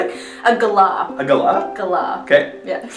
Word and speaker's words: galah: Flamin' galah. How do you say it? A galah.